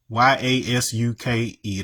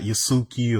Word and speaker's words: Yasuke: But if you know anything about Yasuke, Y A S U K E, that's how that's supposed to pronounced. It's not Yasuke or none of that.